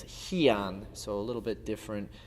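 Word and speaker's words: Heian: They're still done in Tangudo and we call them pyongan which is very similar to the Okinawan way of pronouncing it which would be pin and in Japan they usually refer to them as hian.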